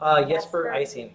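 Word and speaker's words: Jesper Ejsing: Jesper Icing.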